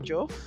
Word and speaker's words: Joof: sure I'm pronouncing your surname correctly it's Madame joof ju what does it what does it mean what does juth mean well ju is my surname and um